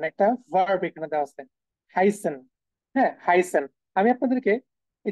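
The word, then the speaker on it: heißen: যেমন একটু যদি এখানে খেয়াল করেন শুরুর দিকে, এই যে দেখেন একটা ভার্ব এখানে দেওয়া আছে হাইসেন। হ্যাঁ, হাইসেন। আমি আপনাদেরকে এই যে এস এর উচ্চারণ কি বলেছি, ডাবল এস এর মতো।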